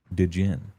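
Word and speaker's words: Djinn: Oh, the D is silent. Okay, Din.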